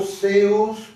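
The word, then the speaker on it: θεός: sinónimo de teos esc bien pronunciado seos con la z de España de donde nos llega teología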